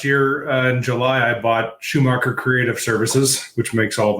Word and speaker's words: Schumacher: And I've just been building up inventory with that because unfortunately, Michael Schumacher, actually, I think it's pronounced Shoemaker, but I'm changing the way it's said because I like Schumacher better.